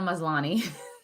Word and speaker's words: Maslany: Tatiana Maslany.